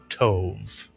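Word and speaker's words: טוב: How would you pronounce this one syllable Hebrew word? Tove is correct or tov.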